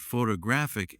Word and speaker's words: photographic: For example, photograph noun is stressed on the first syllable, but photographic adjective is stressed on the third.